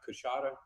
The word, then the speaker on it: Coushatta: David Sickey from the Louisiana, I want to pronounce this correctly. Is it the Coushatta Nation? Right, it's Coushatta Tribe of Louisiana, yes.